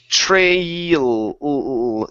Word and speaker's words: trail: Let's take a look at the L sound on the end L. here. So this is trail. Use your tongue.